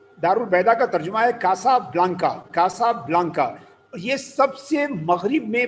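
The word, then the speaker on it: Casablanca: کیسا بلانسا؟ نہیں، اس کا تلفظ کیسا بلانکا؟ اس کا نام ہے کاسا بلانکا۔ کاسا بلانکا، اور یہ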